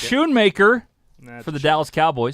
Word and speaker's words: Schoonmaker: Luke Schoonmaker.